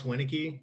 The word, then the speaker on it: Winnicki: worries uh polish names can be hard to pronounce uh yeah so i'm alex winike um i am from north carolina i'm currently